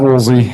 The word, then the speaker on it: Woolsey: Hey, my name is Woolsey, and for those of you that are wondering, that is pronounced wool like a sweater and Z like a letter.